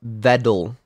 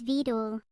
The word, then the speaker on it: Vedal: even spell it b-e-t-l-e no it's vedel yes it is your name is vedul how could I forget I'll call you Vettel next time I see